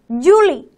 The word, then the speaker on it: Juli: the bulan ok the next one is july or in bahasa it's called julie julie how about in